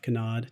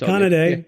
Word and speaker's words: Kanade: Trends with Benefits my guest today is Canad did I pronounce that right kanad day but it's Kan day conad cool welcome thank you thanks